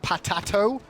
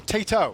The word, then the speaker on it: Tato: So his name, incorrectly pronounced by us, it should be Patato. But let's just call him Tato so everyone's happy. Yeah, taters. No, Tato. You don't tell There's no ERS, so T-A-T-O.